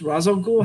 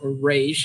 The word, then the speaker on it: Ra's al Ghul: Ra's al Ghul has that oasis, or Raish, if you want to pronounce it wrong.